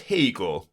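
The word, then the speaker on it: Haigha: happy his name is hegar he pronounced it to rhyme with mayor I love my love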